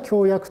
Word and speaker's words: 共役: あくまでも読み方としては共役と読むべきであのこうこの役員